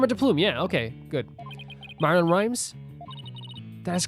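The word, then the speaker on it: Marlon Rhimes: Norma is nor wait am I saying the name wrong again nor de plume yeah okay good Marin Rhymes that is correct the day my client called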